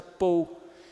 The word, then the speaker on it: Paul: Então, ao ver um L aqui no inglês, a gente vai fazer a mesma coisa, vai ficar Paul.